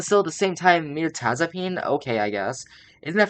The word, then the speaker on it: Mirtazapine: Google hold on mapine Mirtazapine what that's how you pronounce it Meraz I mean that makes sense but still that makes sense but still at the same time M Taz upine okay I guess isn't